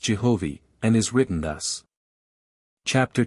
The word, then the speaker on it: Jehovih: Which is now pronounced Jehovih, and is written thus.